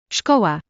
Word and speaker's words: szkoła: S and Z together sounds like the English sh in ship. An example would be the word for frog, żaba, and the word for school, szkoła.